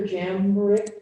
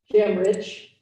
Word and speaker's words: Jamrich: Dr. Jamrick, can you tell me how to pronounce that correctly? Jamrich, thank you.